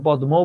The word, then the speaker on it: পদ্ম: এখন এটা কি তোমাকে আমার শেখাতে হবে? পদ্ম, তুমি তো পদ্মও বলো না। ছদ্ম নাম, রশ্মি, তুমি তো বলো না, তুমি নিজেই তো জানো এটা উচ্চারণ পদ্ম, ছদ্ম, রশ্মি। তার মানে তুমি নিজেই টেকনিক্যালি বলতে পারছো যে ম ফলার সঙ্গে যুক্ত বর্ণ হিসেবে যে বর্ণটা থাকে সেই বর্ণটা দ্বিত্ব হয়।